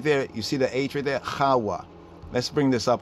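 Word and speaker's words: חוה: The hard H, the chet at the beginning, and the hey, the soft, the H sound at the end, HAWWAH.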